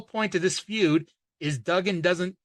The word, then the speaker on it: Duggan: wrestling before mids South because it's like it's pronounced dougen but people call him Dugan and he gets mad that they mispronounce his